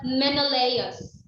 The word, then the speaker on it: Menelaus: men um in layers or it is um pronounced as menelaus that is why on the second picture is